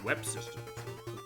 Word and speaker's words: UEP Systems: People develop it, but they pronounce it in the intro and voices as Web Systems.